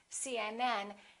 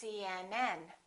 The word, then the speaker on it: CNN: example CNN UCLA PhD the rule is we stress the last letter of an abbreviation for example CNN UCLA